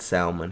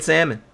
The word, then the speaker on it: salmon: and I know that L is silent. And I've told the story in Legendary, actually. My sushi guy made fun of me one time because I said salmon. He was like, saying that L, huh? But then you guys made fun of me too, and I just stopped. I started saying salmon.